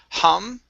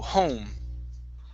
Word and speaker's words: home: Instead of hum, it's home. Home. Okay, one more time. So you're saying home. Instead of aum, go to an O first. Home. Home. Okay, almost. So you're going home. So you're actually pronouncing 3 vowel sounds in one. So instead of starting off with an ah, okay, start with an o.